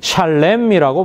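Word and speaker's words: שלם: 평화 평화는 샬롬이고 집을 하다는 샬렘이라고 발음합니다.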